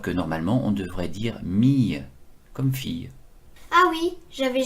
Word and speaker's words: mille: Et puis ce mot n'a pas complètement disparu, puisqu'on continue à prononcer 1000, alors que normalement on devrait dire mille, comme fille.